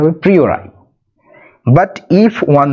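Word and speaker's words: a priori: ইফ ওয়ান মে জাজ প্রি ওর আই এর উচ্চারণটা হবে প্রিরাই বাট ইফ ওয়ান মে জাজ যদি একজনকে জাজ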